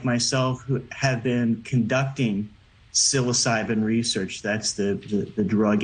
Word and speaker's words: psilocybin: with us how silos is it Silo cybin I'm saying it right yes psilocybin is able to psilocybin psilocybin psilocybin psilocybin I would say psilocybin so yeah it's not wrong okay I'm saying it like a Brit um is it correct